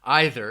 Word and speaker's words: either: the United States, you may hear people say either one of those. I just said it then, either in that case.